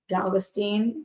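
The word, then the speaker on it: Galitzine: first Nicholas galvanin or my sister told me it's rhymes with magazine galin yeah valstein I don't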